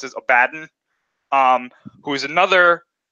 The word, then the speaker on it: Abaddon: Another one is Abaddon, or Abaddon, I guess you can pronounce it like that. I've always heard it pronounced as Abaddon, who is another name from the Bible.